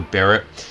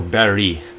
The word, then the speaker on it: Barrett: By the way, I've actually looked at the pronunciation for Barrett. It actually can be said pretty much in two ways. It can be Barrett or Barry, but I'll just call her Barrett.